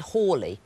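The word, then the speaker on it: Halley: I was at school they said we ought to pronounce it hly which probably wrong I mean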